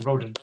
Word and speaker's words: Rodon: Rondon, Rodon. That's it. Rodon. So my defenders, I can't pronounce his name.